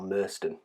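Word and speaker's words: Merstone: Now we're coming up to Merston, or Merston, how it's pronounced.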